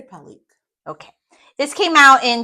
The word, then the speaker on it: Pelykh: Yeah, I would say Pellyk.